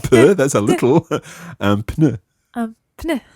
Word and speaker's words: pneu: Un pneu. Un pneu. There's a P and an N in there. Un pneu. Un pneu. Okay, it always sounds as if it comes right through your nose.